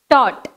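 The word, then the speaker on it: taught: Next, tot.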